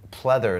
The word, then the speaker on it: pleather: No, that's synthetic pleather, it's called. Yeah, it's four-way stretch, which is very good because he can move anyway. Yeah. And they can pleather a woman. Pleather, it rhymes with pleasure.